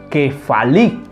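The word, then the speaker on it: κεφαλή: según el strong 2776 del griego se pronuncia como que fali que fall y también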